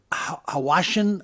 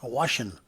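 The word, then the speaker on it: Hwashin: At a plant owned by Hawashin America. It's H-W-A-S-H-I-N, Hawashin. Okay. Maybe the H is silent.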